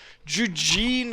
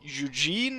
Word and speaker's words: Eugen: pronunciation of his name, Eugene, as you say it in English. However, since he's fighting for the Austrians, perhaps I should pronounce it in German, which is closer to Eugen, Prince Eugen.